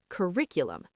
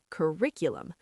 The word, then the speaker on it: curriculum: Curriculum. Stress on the second syllable. Curriculum. Many students misplace the stress on the first syllable. Say it slowly. Curriculum.